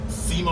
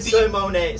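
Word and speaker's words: Symoné: Simone. We've been saying her name. We've been saying her name wrong. It's Raven Simone. Simone? Yeah, it's not Simone.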